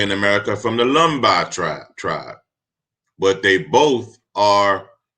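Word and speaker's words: Lemba: Now he's saying Lamba, but he meant to say Lumbi is the way we pronounce it.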